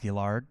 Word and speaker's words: Gillard: I actually learned how to pronounce their name. I actually asked them. So, it is Gillard.